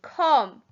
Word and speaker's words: come: them out number two come c o m e the e is silent and the r sounds